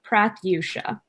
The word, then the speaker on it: Pratyusha: I don't have business cards with me, but it's Prath, as in rhymes with wrath, and then you and Sha, Pratyusha.